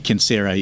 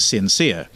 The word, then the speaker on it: Censere: came up amongst a number of others was cancere the pronunciation would be concera in in latin now i'm not a latin scholar so i naturally pronounce it sincere right and is that kind of like a